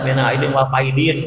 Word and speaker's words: minal aidin wal faizin: Jangan salah bacanya, ada minal aidin wal faizin, Pak.